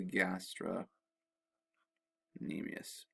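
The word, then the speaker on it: gastrocnemius: calf muscle is called the gastra anemius with a silent c okay now a little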